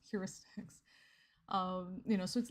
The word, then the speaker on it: heuristics: to do it because I kept pronouncing it hoyeuristics um just because the way that I had to move my mouth to pronounce heuristics was to it was too exaggerated for me and it just kind of made my jaw feel weird so I just said well I'll just do hoyeuristics um and so when somebody